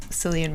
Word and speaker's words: Cillian: Every still image I've seen of Cillian Murphy, he just looks really sad. And it's pronounced Killian.